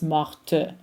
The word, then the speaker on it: morte: It's morte. If you are pronouncing the masculine form, the T is silent. It becomes mort.